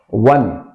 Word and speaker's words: one: is oneeyed man so here one when o is equal to W one not on one then what is also cons ental sound even if o the lat the funny is a w it is producing W sound that is consonantal sound but when it is